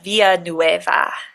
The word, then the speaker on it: Villanueva: we wanted to do the super correct pronunciation it would be Clarita viaa but we're just going